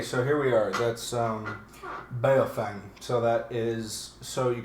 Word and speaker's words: Baofeng: It's Chinese. And it's actually, the actual enunciation is Baofeng. Okay. But yeah, Baofeng for us Americans that can't speak Chinese. Okay, so here we are. That's Baofeng.